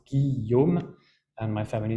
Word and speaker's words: Guillaume: That's a French name that's pronounced Guillaume, and my family name is, much easier.